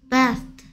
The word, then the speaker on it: vest: 아 하지 말고 따라하세요 v 그럼 에 합쳐서 vest vest vest가 아니고 vest 윈니가 아랫입술을 수치라 했습니다.